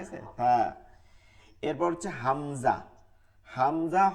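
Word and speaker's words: همزة: হামজা হরফের উচ্চারণ কি হবে, পার্থক্য হচ্ছে শক্ত এবং ওই গোল হায়ের মতন গম্ভীর আওয়াজ, শক্ত এবং গম্ভীর আওয়াজ।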